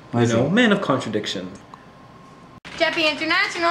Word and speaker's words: CHEPE: I want to begin by asking you about the history of CHE.P.E. Chepe. Actually, a lot of people do mispronounce it, but it is pronounced Chepe.